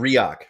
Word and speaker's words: Reock: your last name Justin it's riak riak riak that's you know it's so close to react I should remember that